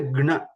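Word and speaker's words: ज्ञ: So we have to say gna. So it becomes gna.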